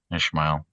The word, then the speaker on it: Ismael: And it's not spelled Ishmael. It's just spelled with an S. There's no H. But we're in America, so Ismael.